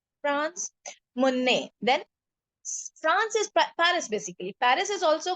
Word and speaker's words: Paris: In French, we say Paris. We call it Paris. We don't pronounce Paris, we say Paris.